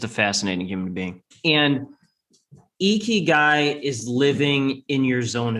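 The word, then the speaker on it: ikigai: because it's a way of life and it's pronounced iky. I k I g ai eeky guy and for a lot of western people this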